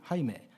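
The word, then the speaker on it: Jaime: 해놓고 호세로 있잖아요 그것처럼 스페인어에서 제이는 h 발음 나는 거고요 h는 소리가 안나요 오히려 모금이에요 그러니까 호세 하는 것처럼 하이맨 jaim이 하이메 이렇게 하고요 또 디에고도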